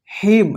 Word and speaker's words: hymn: देखिए यहां पे HYMN, इसको क्या पढ़ेंगे, हिम।